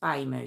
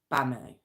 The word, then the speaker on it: Bamu: a m u now I hope I'm pronouncing it right I don't think it's Buu so I think it's bamoo okay so oh it's